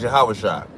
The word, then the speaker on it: Yahawashi: Um, in Hebrew, his name is Yahawashi. That's how we pronouncing it.